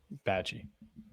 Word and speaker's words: Bachie: Bachie. Oh. Bocce ball.